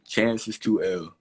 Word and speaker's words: Chances2L: Chances2L. So that's how it's pronounced. It's not an I. It's not anything else. It's an L. Chances2L is my handle.